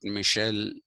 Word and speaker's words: Michel: yesterday i had started talking to you about michelle foucault m-i-c-h-e-l michelle f-o-u-c-a-u-l-t foucault it's pronounced that way michel foucault is a frenchman